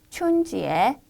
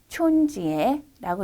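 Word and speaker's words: 春节: 춘절을 한번 중국어로 읽어볼까요? 춘지에, 춘지에라고 읽고요.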